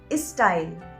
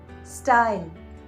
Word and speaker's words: style: So they would say is student, is still, is style, and that's not a correct pronunciation. You should rather say student, still, style.